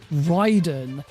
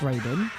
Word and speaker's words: Raiden: Like, how many how many times has he heard the name pronounced Ryden, but still thinks that it's supposed to be Raiden? I mean, I understand why he thinks that it should be pronounced Raiden because Raiden from Mortal Kombat is spelled the